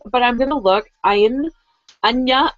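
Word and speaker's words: Áine: Anya is actually how A-I-N-E is pronounced. Anya and the Guardian.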